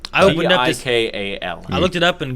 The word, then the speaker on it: Tikal: Is that how you say it? To call? Yeah. Okay. I keep saying T-call. I opened up this. Tikal.